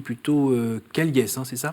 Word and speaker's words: Callies: Alors votre nom s'écrit plutôt Caliès, c'est ça? Oui, mais ça se prononce Caille.